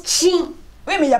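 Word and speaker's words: Qing: Ça s'écrit Q-I-N-G et ça prononce Ching.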